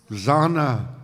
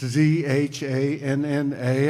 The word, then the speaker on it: Zhanna: I mispronounced her name on camera for like 2 years. Zana. It's Zhanna. I mean, I thought it said Zana.